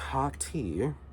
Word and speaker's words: Hottiez: a blurb here and it says hotties pronounced hot tea and it says the